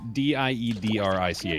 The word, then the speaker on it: Diedrich: How do you pronounce D-I-E-D-R-I-C-H?